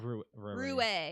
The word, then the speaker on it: Raue: But it's RAUE. Yeah. Yeah. Rue is how you say it.